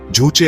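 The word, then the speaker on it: 주체: North Korea की राजनीतिक और सामाजिक व्यवस्था के बिल्कुल केंद्र में एक विचार है जिसे जूचे कहते हैं, जिसका उच्चारण जूचे किया जाता है।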